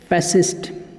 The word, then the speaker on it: fascist: फैसिस्ट। क्या कहते हैं? फैसिस्ट। फैसिस्ट। तो फैसिस्ट मतलब क्या हो गया? स्पेलिंग आप देख सकते हैं, FASCIST, फैसिस्ट। यहाँ पे सी जो है वो साइलेंट है, फैसिस्ट।